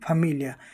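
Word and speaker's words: famiglia: Italian में फमिलिया। फैमिलिया में आप देखते हैं कि जी एल आई जो है इसको ल की तरह पढ़ा गया।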